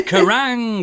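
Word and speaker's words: Kerrang!: TV ch I mean he is the only person to to correctly pronounce karang ever is it is karang it's got an exclamation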